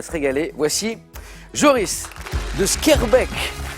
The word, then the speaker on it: Schaerbeek: Voici Joris de Schaerbeek, je prononce bien, hein, oui.